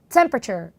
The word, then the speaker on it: temperature: 읽는 경우가 상당히 많지만 이 긴 단어가 여러분 하나의 강세에 모든 게 들어가요. 그리고 짧은 발음이기 때문에 temperature가 아니고요. temperature. 한 박자예요. temperature. 이렇게 발음하시면 됩니다.